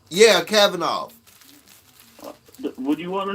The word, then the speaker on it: Kavanaugh: I can't pronounce his name that good. Kanovich. That's a Kavanaugh? Yeah, Kavanaugh.